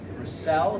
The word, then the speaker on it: Roussell: Roussell, is that how you say it?